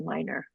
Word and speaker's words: Minor: And just one small correction, my last name is pronounced Minor. Oh, Minor. Thank you. Uh-huh. Yeah, like um you have a minor problem.